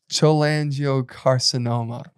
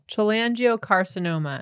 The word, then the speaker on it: cholangiocarcinoma: It's also World Chola Angiocarcinoma Day, which is a type of cancer that develops in the bile ducts and around the liver, also affects the gallbladder.